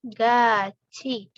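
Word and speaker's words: 같이: 27 APR pinggul gajih cara bacanya adalah Gachi pakai Ci bukan enggak iya sing gua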